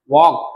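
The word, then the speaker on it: walk: वॉक carefully, वॉक carefully मतलब वॉक, अब इसको वॉल्क नहीं पढ़ना, कई लोग इसको पढ़ते हैं वॉल्क केयरफुली, तो वॉल्क नहीं, ये जो एल होता है भाई वो साइलेंट होता है, इसलिए पढ़ेंगे इसको वॉक केयरफुली, ध्यान से चलो।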